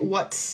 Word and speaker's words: what's: is how it sounds what's similar to cuts, huts, whats. All of these words rhyme.